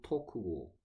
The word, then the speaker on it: talk: 그 다음에 have하고 talk의 공통점은? 엘이 묵음이지. 헬프가 아니고 헬프고 토크가 아니고 토크고 L이 뮤트다.